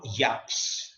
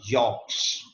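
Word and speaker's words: Jaques: Therefore, you can see Lord Yaks. The correct pronunciation of this word is Lord Yorks, जिसको हम mispronounce करते हैं जैक्स। जैक्स basically नहीं है, यॉर्क्स।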